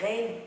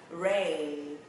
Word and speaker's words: rain: Một số động là rain theo âm E. Nhưng mà nó không có đúng mọi người nha. Không có rain riết gì đây ha. Nó là âm E mà nó sẽ là rain.